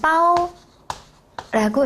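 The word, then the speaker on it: 褒: 여러분네 그리고 밑에 감싸 주시면 돼요 중국어 바면 빠오라고 읽어요 오이라고 하면 굉장히 긍정적인 뜻 을 나타낸다는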